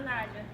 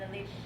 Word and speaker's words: Elisha: It's not Elijah, it's Elisha. Did I pronounce that? Elisha? Elijah? Elijah and Alicia? Alicia? Elisha. Alicia? Yes. Always. Or Elisha. Some people just say it like that. It's not J-A-H. It's L-I-S-H-A.